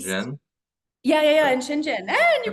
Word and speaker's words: Shenzhen: you in shinen shinen yeah yeah yeah in shinen you pronounced it right yeah we tried we tried